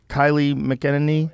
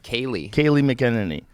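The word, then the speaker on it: Kayleigh McEnany: Kylie McEnany? Oh, yeah. How do you say her name? Great. Kaylee McEnany.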